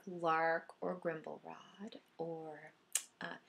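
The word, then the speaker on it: Larque: is our villain and Lark is actually pronounced Lark even though it's l a r q u e is what it looks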